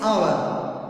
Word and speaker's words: hour: We won't say hour. It is hour. It starts with the O.